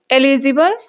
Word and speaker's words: eligible: इनके प्रोनाउंसिएशन में बहुत थोड़ा सा डिफरेंस है। ये एलिजिबल और ये इललिजिबल। ओके?